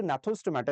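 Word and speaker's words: Gnathostomata: और जो नैथोस्टोमाटा, इसमें जी साइलेंट है, इसमें फिर आपके पास पाइसेस आएंगे, और पाइसेस एक सुपर क्लास है, ये सुपर क्लास है, ठीक है?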